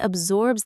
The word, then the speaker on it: absorb: Notice the soft Z sound in the middle, not a hard S sound.